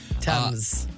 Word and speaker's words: Thames: The Tem and the Sen? Mm-hmm. Nice. Thames.